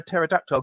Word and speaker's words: pterodactyl: Mike71 wants to know why you can't hear a pterodactyl going to the bathroom. Why? Because the P is silent.